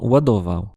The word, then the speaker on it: ładował: Donc ça donne des mots comme l'une des lettres les plus reconnaissables est le barré prononcé comme dans Wadovo.